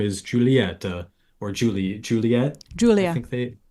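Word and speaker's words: Giulia: Julia Julia it's spell it's like it's spelled g i u l i a like Julia Julia Julia but with a silent G let's pull up the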